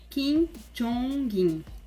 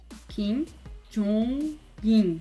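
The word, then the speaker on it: Kim Jongin: Kim Jong-in. Kim Jong-in. Nesse caso, vocês podem ver que meio que pronuncia o G do NG com a sílaba seguinte, porque a segunda sílaba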